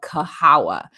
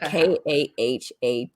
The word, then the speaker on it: Kahawa: black woman's um coffee brand and it's called kahawa and it's spelled k-a-h-a-w-a um kahawa 1893 first black woman owned coffee